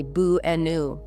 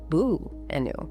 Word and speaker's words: banana: The first and last A become the lazy schwa sound. We say boo-enu. Boo-enu. Listen to how relaxed the beginning and end are. Boo-nu. Banana.